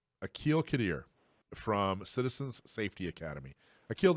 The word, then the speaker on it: Aqil Qadir: air, I'm going to ask you how to pronounce your name. Aqil Qadir. Aqil Qadir from Citizens Safety Academy.